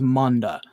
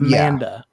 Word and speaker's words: Manda: he there he was it was pronounced Monda not manda Americanized version of it